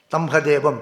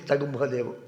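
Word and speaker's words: तं ह देवम्: So Yo Brahmanam Vidadadi Purvam Yo Ve Vedamscha Prahinodi Tasmai Tamhadevam, Tagumhadevam. The Vedic pronunciation is Tagumhadevam.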